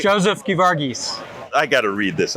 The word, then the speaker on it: Geevarghese: Joseph Geevarghese. I got to read this. I'm Yeah. so sorry. Joseph Geevarghese. Geevarghese.